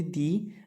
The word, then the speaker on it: the: Ele vai ter uma pronúncia de di quando nós estamos falando de palavras que vem antes de palavras que têm som de vogal, por exemplo, the egg, eu posso colocar aqui,